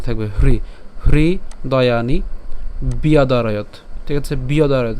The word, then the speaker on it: ব্যাদারয়ত: বিয়াদারয়ত। কেন? জফলার উচ্চারণ কার মতো হয়? অন্ত্যেস্তিয়র মতো হয়, আমরা জানি। তাহলে এটার উচ্চারণ কেমন? বিয়দারয়ত।